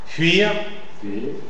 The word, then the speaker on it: fuir: Et c'est vrai qu'il y a une prononciation un peu plus euh sourde en contact avec une consonne sourde précédente. C'est le cas des puis puis fuir fuir tu es tu es tu es.